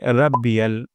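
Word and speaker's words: ربي: হা সুবহানা সুবহানা তারপর রব্বিয়াল যেন এমনটা না হয় রাব্বিয়াল র মোটা করে উচ্চারণ করতে হবে রব্বিয়াল সুবহানা রব্বিয়াল তারপর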